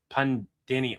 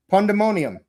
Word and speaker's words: pandemonium: Pan- God, how do you pronounce that? Pan- pan-demonium. Ah yes, Goldar, the groveling one. That'll be close enough. Hey. Hey. Pronounce that. Pandemonium.